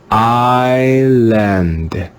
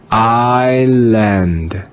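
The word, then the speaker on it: island: s used in english in this word the letter s is silent let's read this word together with a silent s i land i land i lend the next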